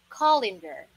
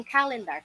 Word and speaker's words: calendar: Karaniwan talaga alam natin, calendar. Kalendaryo, no? Calendar. Yung pronunciation po, yung sound ng A sa unahan is A lang siya na diretsyo.